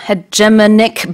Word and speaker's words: hegemonic: Again, mine is the North American or even Canadian pronunciation, which I do think differs from the UK. I go with hegemonic, and it's the simple